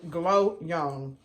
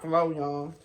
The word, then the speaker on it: Glow Young: Her name is Glow Young. G-L-O Young. Not Flo Young.